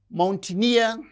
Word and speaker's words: mountaineer: And these words, mountaineer, engineer. So, words that end with uh the suffix near receives stress on the suffix itself.